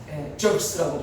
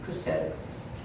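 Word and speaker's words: Xerxes: 그래서 그 황제가 큰 그 황제가 막 자기 막 숭배하려고 하는 그 큰 황제가 저크스라고 발음하는 것은 저크스라고 영어권 사람들 저크스 그러는데 크세르크세스라고 하죠. 성경은 크세르크세스.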